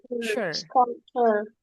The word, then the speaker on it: sculpture: U-nya seperti a yang pertama. U pertama seperti A. Scul sculpture. Aha. Berarti C-nya sculptur pronounce pronounce. C-nya seperti K.